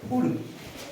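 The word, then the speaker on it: could: silent आहे बरोबर आहे कुड कुड शुड बरोबर कुड कुड शुड त्यातलं ल हा एल हा सायलेंट आहे ओके त्याच्यानंतर एच ओ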